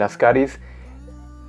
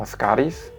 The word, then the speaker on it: Ascaris: Algunos libros le ponen acento en la A para pronunciarlo Ascaris, y algunos omiten esta acentuación. La explicación para omitir la acentuación es que al ser su raíz griega Ascaris, no se debe poner acento y la pronunciación correcta sería Ascaris.